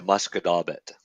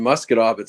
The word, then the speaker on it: Musquodoboit: Because it was one way was the Shubenacadie and the other one was the Musquodoboit. Musquodoboit's fucking a rough one. Musquodoboit's hard. When people look at Musquodoboit, it's mosquito bit.